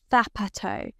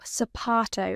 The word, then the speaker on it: zapato: In English, Z sounds like zoo. In Spain, Z sounds like the TH in thin, but in Latin America, it sounds like S. So zapato, shoe, can sound like zapato in Spain or zapato in Latin America.